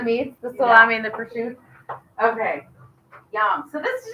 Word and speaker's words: prosciutto: a variation from pizza so you're saying Pursuit I've always said Pursuit oh over there they say Pursuit okay okay yeah so I'm saying it how they say it okay I got it okay gotcha good question it is spelled prosciutto but over there that's how they said it so I'm going with that all right hopefully this